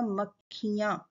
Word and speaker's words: मक्खियाँ: और लेकिन बोला जाएगा मक्खियाँ, ई की मात्रा प्रोनाउंस होगी ख पे और लगेगी क से पहले।